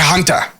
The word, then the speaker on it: Hunter: Hunter and uh and I never heard anyone pronounce my name with the T you know in the